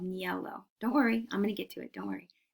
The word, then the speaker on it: niello: It's called niello. Don't worry, I'm going to get to it. Don't worry. It's spelled Niello, niello.